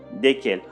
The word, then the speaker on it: desquels: Duquel, de laquelle, desquels, desquels. Attention s'il vous plaît, desquels au masculin, desquels au féminin, le S qui se trouve au milieu ne se prononce pas.